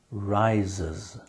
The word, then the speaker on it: rises: But in one word here, you actually you actually hear the sound. Do you know which one it is? Early the next morning, before the sun rises, the ES is pronounced R-I-S-E-S, before the sun rises.